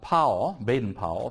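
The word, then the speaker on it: Baden-Powell: Robert um bad uh pow benen pow is the best way of of pronouncing it uh and the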